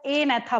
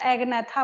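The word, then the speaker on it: Agnatha: एनेथा, जी नहीं बोल रहे हैं हम यहाँ पे, कई लोगों को मैंने देखा एगनेथा बोलते हैं, बट यहाँ पे जी साइलेंट होता है, ठीक है।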